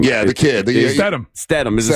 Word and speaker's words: Statham: Statham. Is it Statham?